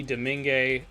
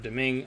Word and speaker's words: Domingue: In net, Aiden Hill and Louis Domingue, or Domingue, I should say. Depends on how he's had it pronounced both ways in his career.